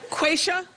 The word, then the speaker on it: Quaisha: Quaisha? Is that how you say it? Yes.